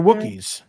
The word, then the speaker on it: Wookiee: Wookiees. They're Wookiees. Wookiees, yeah. The That's a race. rookies? Are you mispronouncing No, rookies?